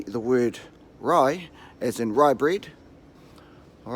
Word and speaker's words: Rae: want to pronounce state so like I said if you never say rye as in rye breed fry braid alright so just roll your are before you say the Rye and then you'll have their first pot lie alright now your English